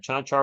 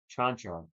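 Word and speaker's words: Čančar: Chanchar with the jumper in the paint. Good. So my apologies. I've been saying his name wrong all night. Chanchar.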